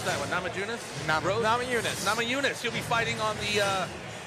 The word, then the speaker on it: Namajunas: How do we pronounce that one? Namajunas? Namajunas.